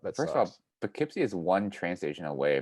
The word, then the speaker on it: Poughkeepsie: I went upstate towards Poughkeepsie, spelled like dough with a P and then Keepsy. So it could be Poughkeepsie or Poughkeepsie.